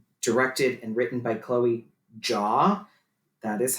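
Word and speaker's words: Zhao: it is uh directed and written by chloe jaw that is how you say her name stop saying sao people oh i keep calling it zao thank you yes i am you're not listen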